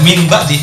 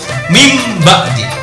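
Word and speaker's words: من بعد: Contoh misalnya nun mati min ba'di, maka bacanya nggak boleh min ba'di, bacanya kayak M, min ba'di.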